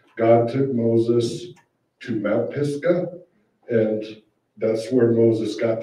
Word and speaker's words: Mount Pisgah: How do you pronounce it? Mount Pisgah.